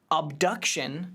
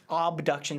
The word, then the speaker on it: Obduction: platformer and puzzle games abduction is supposed to be out this spring obduction spelled with an O we were talking about